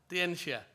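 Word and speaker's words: 天下: I don't know how to pronounce it in Chinese, Tangsha. Tangsha? Tianxia. That's how it's written. The Chinese don't say it the same way.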